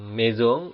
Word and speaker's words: maison: Dan maison itu artinya rumah. Perhatikan saya mengucapkan ini dengan maison. Huruf S yang diapit huruf vokal itu dibaca Z.